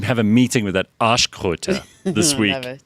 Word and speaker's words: Arschkröte: Basically, the translation is arse toad, and you pronounce it Arschkröte.